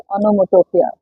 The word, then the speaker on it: onomatopoeia: It is onomatopoeia, but pronounced as onomatopoeia.